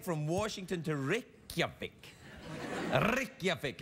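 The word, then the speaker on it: Reykjavík: a direct flight from washington to your vic rikyavic it's pronounced i'm telling you this show's going to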